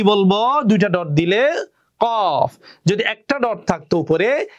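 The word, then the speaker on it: قاف: কি হবে, কফ। আমার সাথে উচ্চারণ করুন, কফ।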